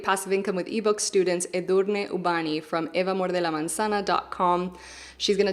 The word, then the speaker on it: Edurne: from my Create Passive Income with eBooks course, Edurne Ubani. Did I pronounce that right?